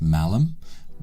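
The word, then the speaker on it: Malham: Go up north near Skipton and find a little village called Malam. It's it's pronounced Malum.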